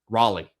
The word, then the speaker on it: Raleigh: Keshan Stancil out of Raleigh, North Carolina. Raleigh.